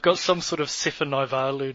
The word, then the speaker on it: Naivalu: They've got some sort of Sefa Naivalu, Naivoro.